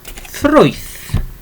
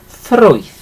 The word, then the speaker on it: ffrwyth: Again, it's the R sound, so ffrwyth. Okay, a little bit rolling the R's again there, okay. So ffrwyth for fruit, okay, ffrwyth.